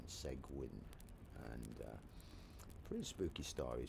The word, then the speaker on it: Seguin: So, and if you wanted to check it out, it's spelled the segue part is spelled s e g u i n. Segwin.